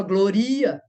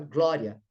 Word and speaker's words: glória: Você não fala gloria, você não fala gloria, você fala glória. Quase que o I não é pronunciado.